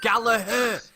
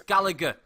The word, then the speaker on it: Gallagher: in the UK called Gallaher it's Gallagher Gallagher the G is there for a reason it's not silent he's not called pterodactyl or something like that with a silent letter it's Gallagher alright another